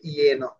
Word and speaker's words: যেন: তো জফলা থাকলে ইয় উচ্চারণ হয়, যেমন যেন, এটা হবে ইয়েন।